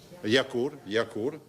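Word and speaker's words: Jarach: riunione assieme Davide Romanini si pronuncia yakult assessore della giunta dell'unione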